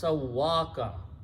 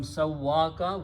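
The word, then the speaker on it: سَوَّىٰكَ: So when you pronounce these together, it becomes Sawwaka. Okay? The sound of this ya with a fatah changes into the sound of alif. So it will become Sawwaka, which is written as in the Quran. Sawwaka, he made you, he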